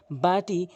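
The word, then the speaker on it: ب: practice করবেন এরপর আসুন বাটি দুই ঠোটে দুই ঠোট মিলিত করে ভালো করে বুঝবেন কথাটি দুই ঠোট মিলিত করে এভাবে উচ্চারণ করবেন বা বা তাহলে আপনার সঠিক উচ্চারণ হবে এরপর আসুন তা জিব্বা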